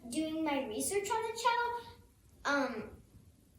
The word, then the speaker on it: cello: I've been as I was doing my research on the cello, it's pronounced cello, like with a C-H.